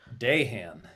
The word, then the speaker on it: Dahan: Dahan. Dahan, guys. Night. The Y is silent and also not in the last name.